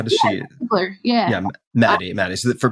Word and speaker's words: Ziegler: And does she pronounce her last name Ziegler, or how does she? Ziegler, yeah.